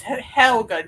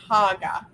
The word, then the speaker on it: Helga: It's Helga, not Haga.